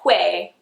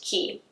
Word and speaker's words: Quay: It looks like Quay, but it's actually pronounced key.